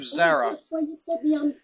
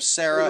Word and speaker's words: Zara: need to apologize to Zarah um pronounce her name Sarah is actually Zara Zara ah Zara okay I know